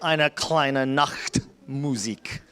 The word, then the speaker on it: Eine kleine Nachtmusik: Now the whole class will play Eine kleine Nachtmusik.